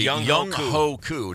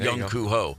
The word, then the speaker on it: Young Ho Koo: is when Giants kicker I'm about to say his name backwards. I'm completely Young Ho Koo, not Young Koo Ho.